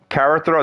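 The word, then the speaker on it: kara: know a car car I think it's Cara I don't know if I'm pronouncing it right it's K A R A Carrow they call Carrow it's like uh basically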